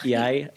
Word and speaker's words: jeg: Hi, jeg hedder Nito. Masih inget dikit banget. Apa? Ayah. Yai itu kayak saya. Tapi tulisannya JEG, tapi bacanya Yai.